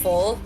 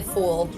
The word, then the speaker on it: full: Also, the way they pronounce like full, they say fool. Fool. Yeah, I know. I heard What's it. I was good, like, hello. fool? I heard it. I was like, hello? It's full, not fool.